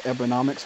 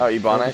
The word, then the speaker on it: Ebonics: Ebonomics, whatever it's called. Oh, Ebonics.